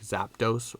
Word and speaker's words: Zapdos: reason as a kid i always added an a i always for some reason thought like zapdos was a three syllable word and not a two-syllable one so for some reason